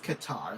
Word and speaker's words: Qatar: It's Qatar. That's how I pronounce it. But I know that there's multiple ways you can say it, I'm sure, but nobody really knows which one's the right one.